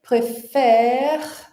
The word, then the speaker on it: préfère: Então, préféré, préfère, né? A gente não pronuncia esse último E aqui, então essa aqui é a nossa última sílaba, né? Que é longa, e é por isso